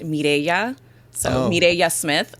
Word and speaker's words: Mirella: And then it's another fun fact is my name is actually Spanish. So my mom is from Ecuador. So my name's technically pronounced Mirella. So oh, Mirella Smith. It's my name. Mireya Smith.